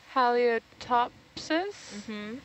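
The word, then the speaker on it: Halieutopsis: potential species um that I will attempt to pronounce oh yeah yep halia top says spelled h-a-l-i-e-u-t-o-p-s-i-s three centimeters how do you talks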